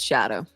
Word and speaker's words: Scadu: sco I don't well so apparently uh scadu is like an Old English word for shadow so you actually just pronounce it shadow okay okay so it's